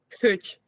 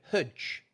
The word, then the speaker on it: huge: Huge. Right, good. Hudge. Now, that doesn't sound quite right, does it? It was really hudge. Yeah. There's something wrong with it.